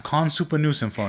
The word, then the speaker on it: Khan: Or like when Khan introduces himself, I'm like, "I'm Conup." He's like, "So that's pronounced Con."